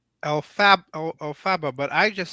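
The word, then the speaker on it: Elphaba: Well, it's Alfaba, but I just say Alfalfa because I couldn't say Alfaba. I couldn't pronounce it.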